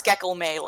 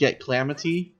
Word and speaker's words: Gecklamatee: that Colossus Kraven okay according to chat it's pronounced yet Klamath II or something along those lines so kind of a slant rhyme to calamity I can probably manage